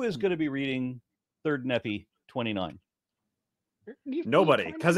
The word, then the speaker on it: Nephi: GNA be reading third nephie 29 nobody because it's not pronounced nephy how dare you okay well